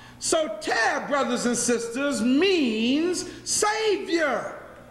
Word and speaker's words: Soter: assumed the throne and his nickname was sotel everybody say sotel you really want to write it down it's spelled s-o-t-e-r so tear brothers and sisters means